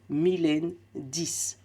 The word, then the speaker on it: Milaine: Tu vas pouvoir avoir 10% de réduction sur le jeu avec le code Mylène10. Donc, Mylène qui s'écrit M-I-L-A-I-N-E. Oui, oui, c'est mon vrai prénom. La moitié de la laine, c'est moi-même.